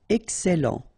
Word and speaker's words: excellent: Okay, you've got double L here, and then it will open the sound of your here, and it will be e. Excellent, excellent.